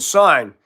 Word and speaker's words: sign: Yeah, silent G and sign.